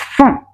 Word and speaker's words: front: now this f f not front one say front it's from from let's see how to